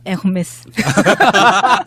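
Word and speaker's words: Hermès: 그러면 지금 김인옥이 받았다고 하는 것 웃으면서 그렇게 하면 무식하다는 소리 듣는다고. 뭐라고 해야 되죠? 네, 에르메스. 그냥 콩글리시로 하면 에르메스입니다. 그러니까 에르메스. 히읗 발음이 안 난다면서요. 묵음이에요. 묵음. H가 발음이 안 되니까 우리가 옴무도 홈무라고 안 하잖아요. 아, 옴무.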